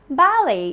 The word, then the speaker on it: ballet: It's not ballet, it's ballet. It's a form of dance, right? So it's ballet. It's a dance form. Ballet. And the T is silent. Not ballet, ballet. The stress is on the first part.